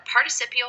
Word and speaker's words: participial: words to make a participial phrase note the difference in spelling and the pronunciation participle participial participial phrases pushing with all